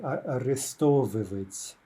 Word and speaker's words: арестовывать: By the way, the stress is generally shifting back to that syllable right before the ivi, right? Арестовывать.